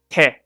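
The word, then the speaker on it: て: Te.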